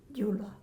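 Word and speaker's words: Gyula: How do you pronounce that? Jula.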